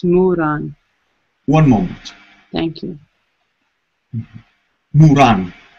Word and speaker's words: Muran: Muran. I believe that's the spelling. I'm not sure. It sounds like it's Muran.